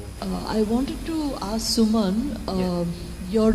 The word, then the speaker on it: Suman: But it is, I mean, I pronounce my name as Suman, right, which is very much a Bengali name.